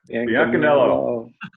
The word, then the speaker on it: Biancaniello: But Ron Tarter, Bill Biancaniello, go on, pronounce that one for me, Ron. Biancaniello.